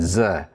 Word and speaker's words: ζ: also the zeta, because if you say z, there's a little bit of a D sound at the end, z, or a theta.